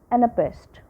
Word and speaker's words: anapest: by a weak syllable third type is anapest it has two weak syllables followed by a strong syllable so it has basically